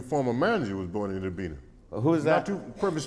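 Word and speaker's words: Itta Bena: a little place called, all the natives call it Itabena. Mm-hmm. That's right. It's spelled Itabena, so we call it Itabena. And people that don't live there call it Itabena.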